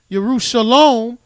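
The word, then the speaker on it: ירושלים: You've been carried from Jerusalem, which is pronounced Yerushalom, the city of peace, to Babylon, the city of confusion, which is not peace.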